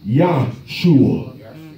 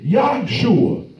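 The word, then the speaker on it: Yahushua: But then some people say Yahshua, Y-A-H-U-S-H-U-A, Yahshua. They said that's the right way to pronounce it.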